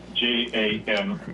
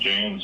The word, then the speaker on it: Jains: Jains. Janis. Yeah. It's pronounced Jains.